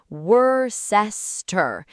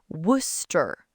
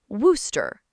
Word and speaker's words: Worcester: English learners look at the spelling and they panic. Wereest. They try to say every single syllable. Wereest, which sounds nothing like the actual word. Nothing. The real word is worester. Worster. Just two syllables.